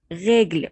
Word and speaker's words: règle: règle، ولازم أمد شوية في الحرف ده لأن الأو عليها أكسون غاف، والأكسون غاف ده بيعتبر عندنا حرف مد. c'est une règle، non ce n'est pas une règle.